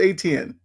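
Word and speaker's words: Etienne: So, he just said go with ATN, you know, say it how it's how it's spelled.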